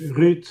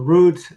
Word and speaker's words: Ruud: First and foremost, just call me root or rude or he him and rudd.